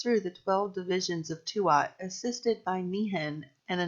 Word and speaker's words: Tuat: is the word tuat, T-U-A-T, not twat, tuat. Twat is one syllable noun and vulgar slang. Tuat is two syllables, and let us explore this now.